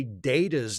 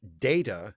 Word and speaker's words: Data: That's why Data's name is pronounced data and not data because the first person Because the first person to say his name in the episode is Patrick Stewart who pronounced it with the long a.